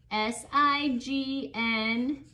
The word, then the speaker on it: sign: secret about this word there is a silent g s i g n stop sign there's a